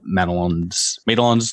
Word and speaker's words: Madelon: guys went on throughout Madelon's Landing. Did you say? How did you pronounce it? Oh, I've said it's Madelon in my head. Well, you wrote it, so that's the correct way to say it.